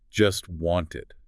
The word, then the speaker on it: just wanted: The source points out that in this particular utterance, the speaker doesn't pronounce the T sound in either word. Not in just and not in wanted, both of them. So, it sounds like just want.